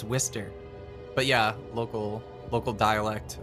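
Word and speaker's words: Worcester: pronounce it like wierer I always hear people say like Wister Shear it's like no it's wher but yeah local local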